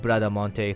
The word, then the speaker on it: Bradamante: In Japanese, it's pronounced Bradamante, so deal with it. English, I think it's Bradmont.